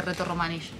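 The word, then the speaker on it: Rätoromanisch: Bueno, en alemán se dice reto romanish.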